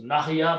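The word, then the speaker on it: نحيا: This is the sound of alif because there's a fatah there and we don't need to pronounce the second one. So nahya means we live.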